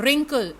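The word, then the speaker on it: wrinkle: जो हेयर नहीं कि रिंकल्स डब्लू आदि डीएम के LED इस में डब्लू है वह साइलेंट है और इसका उच्चारण होगा रिंकल थे स्टूडेंट्स अब हम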